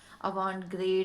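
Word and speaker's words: avant-garde: होता है जिसे कि अवांट गार्ड बोलते हैं। अलग अलग तरह से इसे प्रोनाउंस किया जाता है, अवांट ग्रेड, अवांट गार्ड। ये एक फ्रेंच टर्म है, एक फ्रेंच एक्सप्रेशन है ये basically, which is यूज इन the clothing industry.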